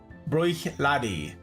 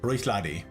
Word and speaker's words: Bruichladdich: Bruichladi. That's how you pronounce that. Bruichladi.